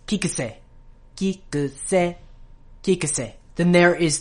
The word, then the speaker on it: Kiku: next we have the former editor Kik k kik might have noticed that the C in the